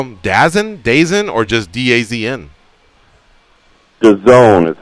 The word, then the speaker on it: DAZN: DAZN is how you pronounce it.